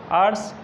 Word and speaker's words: hour: यानी दिन के समय, आर्ट्स HOUR यानी घंटा, यहाँ H साइलेंट है।